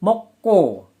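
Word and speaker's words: 먹고: Jadi penulisannya adalah mokgo, tapi pelafalannya mokko. Mokko, mokko, mokgo, mokko.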